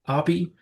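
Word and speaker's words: Api: He did say it's Appy, and he's been introducing himself as Appy his whole life and being called Appy in return.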